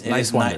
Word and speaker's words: Niswander: Talking to Dan Nowman Niswander. But it's Niswander. just think nice and wander. Niswander.